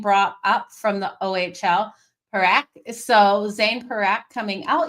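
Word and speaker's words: Parekh: Um, has been brought up from the OHL, Perak.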